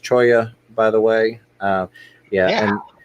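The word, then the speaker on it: cholla: idea edy I'll make a collection video soon pronounced Choya by the way yeah and a lot of people say chola but i know that the the plant itself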